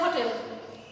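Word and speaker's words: hotel: ইট ইজ এ হোটেল, এখানে H consonant কিন্তু এর উচ্চারণ হ, তাই এই কারণে এর পূর্বে এ বসেছে।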